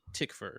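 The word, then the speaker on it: Tykwer: john mctee interview um he pronounced it tickfur so i i believe okay tom tickfer okay well thank you for telling me how to pronounce it um oh yeah if he's german tikvah there you go yeah you got it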